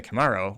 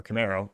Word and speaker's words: Camaro: and their utter incompetence killing the Camaro, or Camaro, if you properly pronounce it, last year.